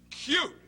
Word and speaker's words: cute: that's it Bernie becomes the u sound in cute so you got Bernie you got cut Cute